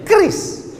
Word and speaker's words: QRIS: Cara bacanya gimana sebetulnya? Kris.